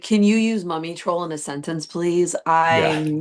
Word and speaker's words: Mumiy Troll: I believe it was pronounced Mumiy Troll.